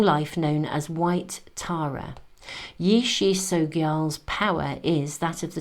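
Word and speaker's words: Yeshe Tsogyal: There we are, Yishi Sogyal, a yogini guardian for humanity and an emanation of the compassionate goddess of peace, prosperity and long life, known as White Tara. Yishi Sogyal's power is that of the tiger cedar or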